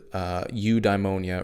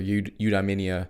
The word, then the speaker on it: eudaimonia: The Greeks had this word, Eudaimonia, or Eudaimonia. It's pronounced several different ways based on who you're talking to.